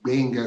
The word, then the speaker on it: Gbenga: And Americans can say the Gbenga sound, the GB sound. But for the very first time, I heard Americans say Gbenga.